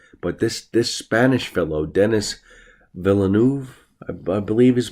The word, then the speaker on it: Villeneuve: But this Spanish fellow, Denis Villeneuve, I believe is pronounced, this guy is a total genius.